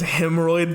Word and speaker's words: Hymnroyd: Also, I just want to say, because I'm sad you immediately killed him, but his name was Hemorrhoid the Goblin, and it's spelled HYMNROYD.